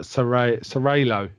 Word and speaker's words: seraglio: think, who had the seraglio, is it? Yeah, seraglio. I looked it up because it's got a really weird. It sounds like you just said it, but serralo is how you say it, apparently.